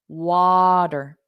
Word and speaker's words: water: exactly right so remember in American English we pronounce the r at the end so it will sound like w yeah sound lar so we have the D water water water water and